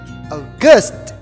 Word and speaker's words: August: next month is august okay the syllable is in the second syllable okay august ghost okay say it